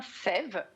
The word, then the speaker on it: Saeve: Donc effectivement, ça se prononce bien Sève. C'est un diphtongue, le E dans le A, et c'est parce que c'est un petit jeu de mots entre la sève qui va saver votre peau.